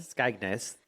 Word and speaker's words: Skegness: I looked up how to say it, and it said Skeg and then Ness. So we'll trust it. Guys, come for me. Skegness.